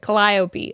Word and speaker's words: Calliope: Collopy. Okay. That's the name of this beautiful beautiful pattern. I'm so sorry, Alex. Google it. He did. It's like I'm emphasis on the second syllable.